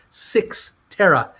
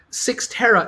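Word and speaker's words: Cyxtera: is going to become six tara take a look at the bottom of this announcement right down here um cy c-y-x-t-e-r-a that's apparently it's pronounced six terra six terra is a company that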